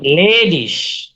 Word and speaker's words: ledig: হ্যাঁ আর মেন্স হচ্ছে তারপরে ইগে, ইগে, ইগে পাশাপাশি থাকলে সেটা উচ্চারণ হয় হচ্ছে ইসের মতো, ইসের মতো আচ্ছা। উচ্চারণ হয়। যেমন দেখেন লেডিস, লেডিস, আচ্ছা।